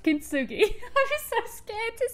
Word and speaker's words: kintsugi: It is how I thought it was pronounced, kintsugi.